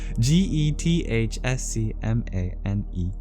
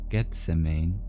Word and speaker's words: Gethsemane: Hearing his calling at Gethsemane, I don't know how to pronounce this biblical place, sorry. Gethsemane. Gethsemane.